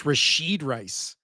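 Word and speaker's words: Rashee Rice: It's Rasheed Rice. Yeah. Can you pronounce one of their names?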